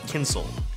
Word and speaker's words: Kyncl: remaking media by Robert Kinsel pronounced like tinsel here are my thoughts